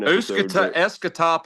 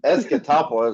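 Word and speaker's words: Escatawpa: Yeah, it's Escatopa is how it's pronounced.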